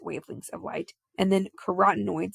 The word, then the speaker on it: carotenoids: of light and then carotenoids it sounds like the word carrots cuz are usually orange